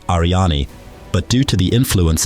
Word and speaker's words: Aryanî: In Kurdish, this name is pronounced Aryani, but due to the influence of English, it is pronounced Aryan in academia.